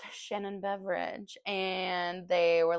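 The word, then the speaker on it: Beveridge: that is it's just it's pronounced that way but it's not spelled that way beverage it's like b e v r i d g e yeah Shannon beverage she get a lot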